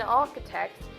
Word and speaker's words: architect: turns the complexity comes in architect CH is K in artisans the other